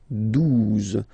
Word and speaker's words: douze: Douze, douze, O, U, the two together will give you the sound OU, okay? And then Z, douze, douze, alright?